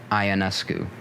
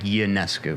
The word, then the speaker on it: Ionescu: For the first year that I knew of her existence, I pronounced it Ionescu. That's what I thought. So But it's Ionescu.